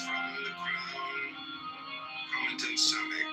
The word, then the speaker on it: Samek: Samek pronounced Somek.